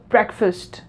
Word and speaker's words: breakfast: so you have to combine them and pronounce them like breakfast right so what we are actually doing here we are compressing the vowels we have in it right as you can